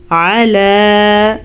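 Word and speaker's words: عَلَى: ہم نے پڑھنا ہے من فضلہ علی من یشاء علی عین کے تلفظ کا خاص خیال رکھنا ہے. اگر ہم اس کو الا پڑھیں گے تو معنی غلط ہو جائے گا.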